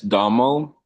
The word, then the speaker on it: Damo: Is it Domo or Domo? Because I'm British and I pronounce things badly. It's Damo. Okay, Domo.